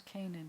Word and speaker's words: Canaan: final none can not on cannot on is Kanan cannot on is Kanan it's not really supposed to have been Canaan there's no at the beginning of that anywhere